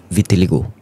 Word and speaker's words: vitiligo: if I'm wrong so the pronunciation is vitaligo hmm setahu aku tu vitaligo vertelgo Betul.